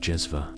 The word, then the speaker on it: cezve: The star of this particular show, as we've already touched upon, is the cezve, pronounced jezva, sometimes also known by its Arabic name, ibrik.